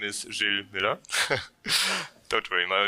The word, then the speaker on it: Gilles Muller: hi everyone uh my name is Jill Miller don't worry my name is very often mispronounced in Germany so that's fine um so